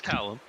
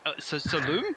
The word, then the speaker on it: Callum: Just just that's how the foreign people pronounce my name. Really? Yeah. Yeah. My name's Callum and they every time I go to Europe they're like saloon.